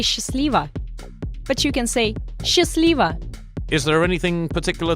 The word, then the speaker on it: счастливо: but you can say счастливо. Счастливо. Is there anything particular to note about the pronunciation? Good question. The first sound in счастливо is pronounced like the sound sh and not sch.